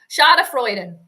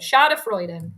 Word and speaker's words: Schadenfreude: Schadenfreude.